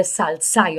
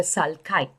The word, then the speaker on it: sulci: grooves which are called the sulci or the sulkai okay pronounce it however you would best remember the spelling that's what matters the